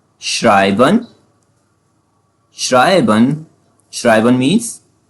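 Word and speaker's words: schreiben: Fifth sound जो है हमारे पास एस सी एच जो है हमारे पास एससी एच जब भी जर्मन में आते हैं वो साउंड करता है शे जैसे एग्जांपल एग्जांपल से समझते हैं। श्राइबन श्राइबन श्राइबन मींस टू राइट करना।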